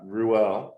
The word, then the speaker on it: Ruell: It actually comes from the Bible, which is Ruel. Same like the way you say it, but the way you spell it in Hebrew would be Reuel, Hmm.